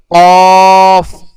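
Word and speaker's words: قاف: এই কফটা একটু মোটা হবে, কফ। আর কফ কোথা থেকে উচ্চারণ হবে? জিহ্বার গোড়া, জিহ্বার গোড়া তার বরাবর উপরে তালুর সঙ্গে লাগাইয়া। তাহলে জিহ্বার গোড়া তার বরাবর, একদম তার বরাবর উপরে তালুর সঙ্গে লাগাইয়া কফ, কফ।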